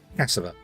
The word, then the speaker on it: cassava: I'm going to carry on pronouncing this cassava. Okay, cassava, which is an A. I'm not pronouncing it as a U. I'm pronouncing it as an A.